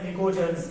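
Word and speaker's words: pnictogens: नाइट्रोजन family को they are also referred to एज निकोजेंस, PNICOGENS, निकोजेंस। यानी पी क्या है? साइलेंट है।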